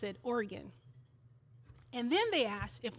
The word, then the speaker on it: Oregon: I said, "We pronounce it Oregon."